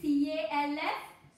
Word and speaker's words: calf: Next one is C-A-L-F. Calf. We call it calf. L is silent here. L is not giving any sound.